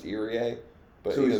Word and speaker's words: Irie: His last name is actually pronounced Irie.